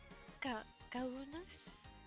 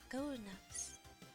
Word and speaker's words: Kaunas: Kaunas? The U sounds like an U. And the last A is A again. Kaunas.